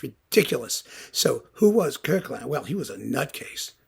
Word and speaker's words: Koechlin: Some people said it was Koechlin. Well, it isn't. It's Kirkland.